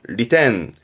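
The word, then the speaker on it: 利点: 점 이점 이죠 이점 이득이 되어지는 점에 이점 리텐 리텐 셨습니다 볼 자 어떠한 시점 내가 보는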